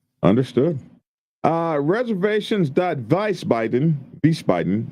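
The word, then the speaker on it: Wiesbaden: Uh reservations.vicebaden, vicebaden, vicebaden, vicebanden. However you say it, the W is pronounced with a V.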